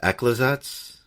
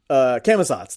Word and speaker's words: Camazotz: out of my mind and I'm having trouble pronouncing it. The Bat God. Oh. Is that Aklazats? Camazotz, thank you.